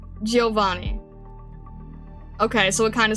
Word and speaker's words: Giovanni: The I is less pronounced. Giovanni. Okay, so it kind of slurs a little bit. Giovanni.